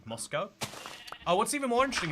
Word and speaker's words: Moscow: even more interesting is they'll pronounce it Moscow and I believe it has like the univers the state's like biggest university it's it's very intriguing like lots of people know mosco Idaho um so uh losing